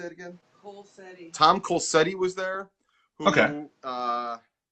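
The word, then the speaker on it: Colceri: I'm going to say his last name wrong. Tom, how do you say it again? Colsetti.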